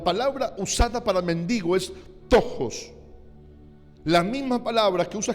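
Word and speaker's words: πτωχός: La palabra que usa para pobreza en este texto es una palabra griega que se pronuncia tojos.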